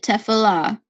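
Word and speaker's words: תפילה: If you click this megaphone, so it tells you how to pronounce it, Tefillah.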